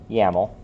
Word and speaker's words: YAML: So we have end-to-end a script specified in YAML, how I pronounce this. I think that's how everyone pronounces it. Do you say YAML? Yeah. Everyone? If you don't say YAML, you don't deserve rights. Okay.